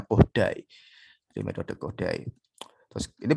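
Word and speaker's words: Kodály: Jadi pelafalannya meskipun ini tulisannya Kodali, tapi bacanya pakai pelafalan Hungaria, bacanya Kodai.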